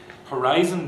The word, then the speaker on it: horizon: Horizon, museum, okay, the final syllable z and are both light, so they don't get the stress once you've chopped off the final consonant. That's a light syllable. So the preceding syllable, which is heavy, gets the stress.